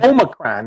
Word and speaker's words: Omicron: Omicron. It's pronounced Omicron.